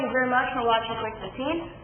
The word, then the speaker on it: Qwick15: I know it's spelled wrong. That name was already taken, so I added the W instead of U. Pronounce it the same way.